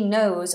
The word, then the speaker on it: knows: how are you um nose and nose Mustafa are exactly the same pronunciation so the nose on my face and she knows a lot of knowledge are the same knows knows knows knows who knows what